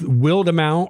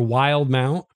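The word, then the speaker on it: Wildemount: I pronounce it Willed Amount because, you know, wildebeest is a word that's spelled that way, but I don't know how Matt Mercer pronounces it. He made it up, so how he pronounces it is right, but you know the book I'm talking about.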